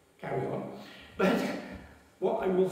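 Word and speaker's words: chara: the Bible words Shar Greek says this Shar or which is c h a r a if you can pronounce it better car but what I will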